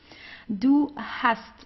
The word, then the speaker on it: hast: Do hust. So here you see you have an st at the end of the word. So you pronounce it the normal way. Do hust.